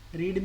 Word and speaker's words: read: रीड में क्या होता है, स्पेलिंग सेम रहती है. Second form we will pronounce like रेड.